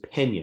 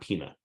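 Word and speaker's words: Peña: but it's adirond versus Pena not Pina uh just just completely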